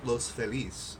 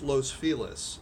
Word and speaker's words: Los Feliz: neighborhood of Los Feliz which of your Spanish you pronounce Los Feliz but being LA you know how things are it's Los Feliz now it's named after